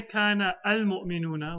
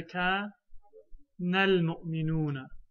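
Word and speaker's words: كان المؤمنون: Yes, but we won't say kana al-mu'minuna, we'll say ka nal-mu'minuna, because the alif of the alif lam will never be pronounced.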